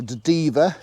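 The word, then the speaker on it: Dever: the river it's called the diva d-e-v-e-r rhymes with beaver a lovely little well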